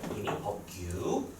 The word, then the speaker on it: 임의법규: 발음 정확하게 해야 돼요. 임의법규. 법규.